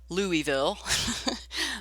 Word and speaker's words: Louisville: 3 years ago, I was at an Amos Lee concert, an outdoor concert in Louisville, Kentucky. And for people outside of Kentucky, that is Louisville. The Louisvillians pronounce it Louisville.